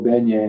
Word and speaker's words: beignet: Oh, beignet. All right, I'm sorry. Beignet. Beignet. I'm glad you told me how to pronounce it because I'd have pronounced it incorrectly till the day I died.